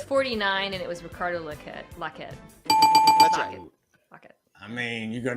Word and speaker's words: Lockette: what it's outrageous legit this is not French it's locket Carter lock it there